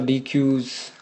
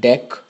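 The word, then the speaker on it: deque: stacks Q's you'll have DQ's oh I'm sorry it's pronounced deck not DQ is pronounced deck um besides this I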